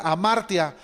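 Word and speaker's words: ἁμαρτία: es una palabra que se menciona no se pronuncia amartya es la más común y conlleva la idea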